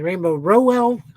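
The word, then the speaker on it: Rainbow Rowell: by rainbow R uh uh or excuse me rainbow Rell I actually had to listen to an interview to get her name pronounced with art by Andreas galante or yeah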